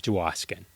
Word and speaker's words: Dwoskin: There's no duh. It's just Dwoskin. All right, there we go.